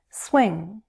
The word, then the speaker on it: swing: Swing, as in swing state. Swing has 1 syllable, and the word ends with that NG sound, ng. Raise the back part of your tongue toward the roof of your mouth.